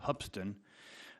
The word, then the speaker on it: Hoopeston: school called it pronounced it's spelled Hoopeston but it's really pronounced hubsan and I had after